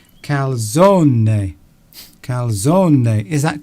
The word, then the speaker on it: calzone: I can see this calzone, but do you pronounce the E? Is it calzone or just calzone? I think you do pronounce the E, because from what I understand about Italian, you have to pronounce every syllable. So I think it's calzone.